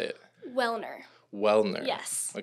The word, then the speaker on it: Welhener: Welhener.